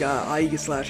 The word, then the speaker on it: Aegislash: today you can slash but apparently it's like ie slash or something like that so i know ages